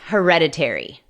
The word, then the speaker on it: hereditary: This sickness is not hereditary. Esta enfermedad no es hereditaria. Hereditary. La sílaba tónica es la segunda, hereditary.